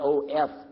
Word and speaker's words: of: I mean O-F. I'll get it right in a minute. O-F, we pronounce it of with a V, right? With a V. Of. We don't say of. We say of.